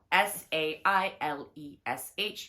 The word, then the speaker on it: Sailesh: Sailesh.